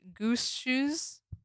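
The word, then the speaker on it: Gumshoos: It's pronounced gum shoes. It's supposed to be goose shoes cuz it's like a a Mongoose.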